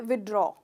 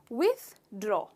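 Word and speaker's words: withdraw: पैसे निकालने के लिए तो हम जनरली कहते हैं विद्रोह विद्रोह कहते पर इसमें हम थोड़ा सा दूध लेना भूल जाता है तो इसका करेक्ट प्रनंसीएशन है विड्रा विड्रा कि मेरे साथ विड्रा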